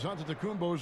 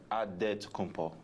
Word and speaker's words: Antetokounmpo: The Nigerian way, you gotta say with a D, so it's Antetokounmpo. But in the Greek way, you say with the NT, like Antetokounmpo.